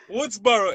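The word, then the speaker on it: Wurtsboro: at because I'm terrible I've been trying to pronounce the name what's what's borough New York W what's borough Woodsboro it's W you are TSB o ro Woodsboro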